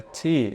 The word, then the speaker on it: Tee: A palavra Tee é uma palavra masculina, der Tee, e significa o chá, tá bom? Cuidado para não querer pronunciar igual no inglês, né? Aqui é Tee. 2 Es significam que eu devo pronunciar um E bastante longo.